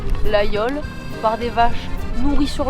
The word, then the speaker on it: Laguiole: Fromage produit à Laguiole, à prononcer l'aïole, par des vaches nourries sur l'Aubrac.